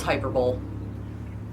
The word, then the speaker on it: hyperbole: I try when I say it out loud to say it correctly, which is hyperbole. But no, it's hyperbole.